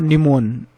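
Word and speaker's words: pneumono: हैं जैसे नेम और निमोन निमोनो। तो नेम नेमो निमोनो ये जो टर्म है यहां पी है बट पी साइलेंट है और ये भी क्या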